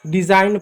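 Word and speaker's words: design: तो ऐसे समय में जी साइलेंट होगा। जैसे इसको क्या पढ़ेंगे, इसको केवल साइन पढ़ेंगे, साइन, इसको साइन पढ़ेंगे, साइन, साइन पढ़ेंगे, डिजाइन पढ़ेंगे, फॉरेन पढ़ेंगे, जी साइलेंट रहा, यहाँ आप देख सकते हैं।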